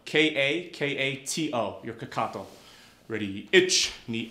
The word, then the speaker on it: kakato: In Japanese it's kakato. K-A-K-A-T-O.